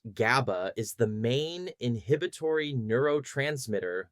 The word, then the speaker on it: GABA: Gamma aminobuteric acid commonly pronounced GABA is the main inhibitory neurotransmitter that works in opposition to glutamate in the brain.